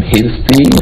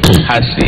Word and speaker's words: Hashi: Some people call him Hirsi. Yeah. Hashi. I think the right pronunciation is Hashi.